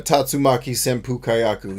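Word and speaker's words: Tatsumaki Senpukyaku: dragon punch and a tatsumaki senpukayaku yes that's how you say the word even though that's not how they say it you know it's tatsumaki right even though that's not what they say in the game that's the words at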